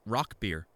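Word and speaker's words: Rauchbier: rash beer or no it's it's apparently pronounced rock beer no i haven't i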